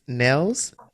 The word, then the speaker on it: Niels: to give it a try you know it's nells they frank the fragia yeah so nils what